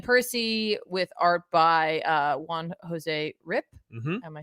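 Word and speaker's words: Juan Jose Ryp: this is Ben Percy with art by uh Juan Jose rip am I saying that correctly I was we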